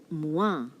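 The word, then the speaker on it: moi: you have the word mwah well when the letter o meets i in vasamlayu it is oi right but in french it is not oi it is so m-o-i-i-m-o-i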